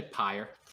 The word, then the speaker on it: PYR: I say pyre, just fire with a P.